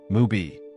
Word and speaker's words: Mubi: Just as he's about to leave one of these disappointing casting calls, he encounters a beautiful girl with a unique name, Mubi, which sounds like the word movie.